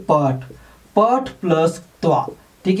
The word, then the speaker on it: क्त्वा: कि त्वा का सिर्फ त्वा बचता है। ठीक है, आप प्रत्यय लिखोगे त्वा, मतलब क यहाँ साइलेंट है, त्वा, मगर बचेगा त्वा। तो कैसे होगा?